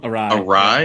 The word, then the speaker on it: awry: Awry? Yeah, awry. Yeah, you're right. 4 letters, 2 syllables.